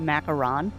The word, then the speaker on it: macaron: I call them macaroons interchangeably, even though I know one of them is technically pronounced macaron. French sandwich cookies.